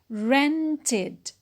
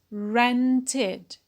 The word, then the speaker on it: rented: add the ed, so it is pronounced rented, rented. We notice that we have here two syllables.